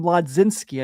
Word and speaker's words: Mlodzinski: So, tomorrow when you have uh Carmen Mlodzinski, I never know if I say his name right, but I don't care. Yeah, it's one of those weird ones where it's like you roll over half of his name.